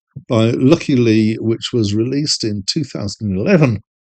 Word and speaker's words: Lykke Li: Lucky Lee or some approximate pronunciation is a Swedish singer, songwriter, model, and actress.